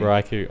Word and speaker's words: Raikou: That's why you never And make fun of someone who pronounces Right. the word incorrectly. Raikou.